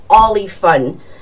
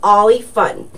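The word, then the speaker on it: Oly Fun: The orange fabric is called Ollie Fun. And Ollie Fun can be purchased at any craft store. Joann's Fabrics and Hobby Lobby does carry Ollie Fun, and it's spelled O-L-Y space F-U-N. So Ollie Fun.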